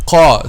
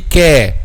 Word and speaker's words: ق: So how we make the letter heavy? By raising the back of the tongue. Qa. This is raised. Qa. So if it's not raised, it will be ka. Another letter, which is letter kaf.